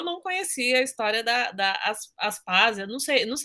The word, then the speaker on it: Aspásia: Gostei muito Eu não conhecia a história da Aspásia, não sei, é assim que se pronuncia Sim, mesmo? Aspásia, Aspásia.